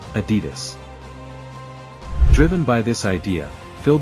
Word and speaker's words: Adidas: By the way, that's pronounced Adidas.